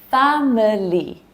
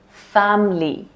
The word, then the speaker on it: family: Okay, number 7, family, family. So here again, 2 syllables instead of 3.